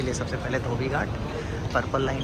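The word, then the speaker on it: Dhoby Ghaut: मैं तो इसको धोबी घाट पढ़ूँगा, ये लोग ढो पाई खाउट अजीब सा प्रोनाउंसिएट कर रहे हैं, बट है तो धोबी घाट ही है।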